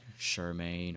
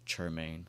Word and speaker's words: Chermain: They be saying like Shermaine or like Sherman or whatever. It's Chermain, like church, like you go to church on Sunday. That's how you pronounce it.